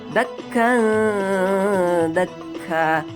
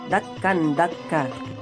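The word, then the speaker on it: دكا دكا: Ingat, cara bacanya itu harus disamarkan, jangan sampai terbaca jelas, apalagi dengung. Dan ingat, harus ditahan 2 harokat ya teman-teman. Contohnya dakka dakka, bukan dakkan dakka.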